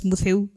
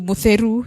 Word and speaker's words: Mutheu: My name at that particular time was Mutheu. And I knew Kamba very well. That was my first language. But when I went to Meru, people are mispronouncing my name to Mutheru something, you know.